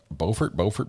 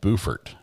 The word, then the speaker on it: Beaufort: Beaufort.